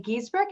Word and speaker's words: Giesbrecht: Today we have Merri Ellen Giesbrecht. Am I pronouncing your last name properly, Merri Ellen?